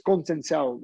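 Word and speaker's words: Conceição: I believe it's Conceicao, Robson Conceicao.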